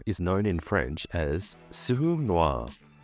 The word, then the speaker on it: sureau noir: Black Elder is known in French as Suum Noir. It's pronounced sur u r e a u noir n o i r.